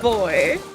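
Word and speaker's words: buoy: Can't believe that's pronounced boy.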